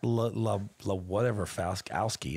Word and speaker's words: Laskowski: I got Laskowski.